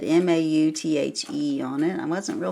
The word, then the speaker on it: Mauthe: So it's German, Mauthe. Mauthe. So it's not TH sound. Maut and then H.